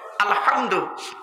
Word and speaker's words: আলহামদু: পড়ি আলহামদুলিল্লাহি রাব্বিল আলামিন আলহামদু গলার ভেতর থেকে উচ্চারণ করবেন আলহামদু এর মানে হচ্ছে সমস্ত